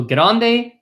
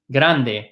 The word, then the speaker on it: grande: We talked about one piece of advice, which if you're struggling with that R in grande, it's kind of like saying get on de, right, in Spanish. Kind of like saying get on de in English, and that'll be like saying the word grande.